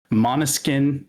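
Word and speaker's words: Måneskin: I guess it's maybe like a Danish word or something, but Monuskin is what they said on there.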